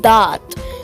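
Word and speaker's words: ض: To pronounce dot correctly, you must press your tongue against your upper gum area, right where the gum meets your upper teeth, and then make a D sound.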